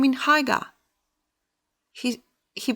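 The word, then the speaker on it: Haigha: happy his name in Haga he he pronounced it so as to rhyme with mayor I love my loaf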